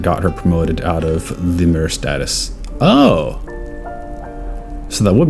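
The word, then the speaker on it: lemure: I'm just going to pronounce it as lemur.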